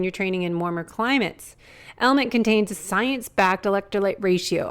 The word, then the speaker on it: LMNT: our sponsors lmnt element it's spelled l MNT but pronounced element if you haven't heard